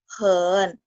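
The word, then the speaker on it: 很: Terus lanjut yang nomor 5, hen. Ya, nadanya centang juga. Jadi waktu baca di ayun, hen itu sangat, sangat.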